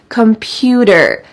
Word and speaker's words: computer: a student computer computer notice that the T changes to a D sound in American English computer computer I've been using